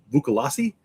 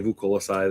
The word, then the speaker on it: Vukolasi: Uh some people say, "Aren't they pronounced the Vukolasi?" Uh no, I say Vukolasi.